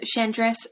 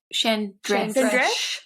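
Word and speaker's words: Chandresh: is a contortionist and chandras immediate oh that's not how you say it is that how i say it chan dressed is it like a shh or an i think it's a sh rather this yeah i don't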